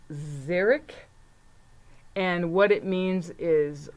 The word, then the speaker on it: xeric: I had to look it up okay it's pronounced zarok and what it means is it's like a dry habitat very very dry okay xeric and then this has an X I I